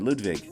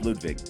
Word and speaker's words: Ludwig: how they pronounce it ludvig yeah the w sounds like a v in in their language so it's ludvig oh okay when I